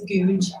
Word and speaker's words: Gouge: That's how you say it, it's Gouge.